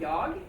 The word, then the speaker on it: jag: So there will be some places when the pronunciation might be a bit difficult, because we don't pronounce the G here at the end of jag, but we say ja.